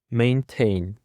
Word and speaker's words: maintain: And now for the following word, we have maintain maintain. Maintain consists of two syllables and the stress is on the second syllable.